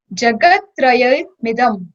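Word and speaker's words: जगत्त्रयमिदम्: So when you'll join it, it would be Jagat Traya Midam. Prakati Karoshi. Prakati Karoshi. Prakati Karoshi. Prakati Karoshi. Kritsnam Jagat Trayam Idam. Jagat Trayamidam. When we'll combinedly like pronounce it, instead of Idam, it would be Midam.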